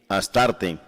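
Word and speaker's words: Astarté: diosa Luna una diosa astoret y s h t o r astoret y también se pronuncia a s t a r t asarte está en la moneda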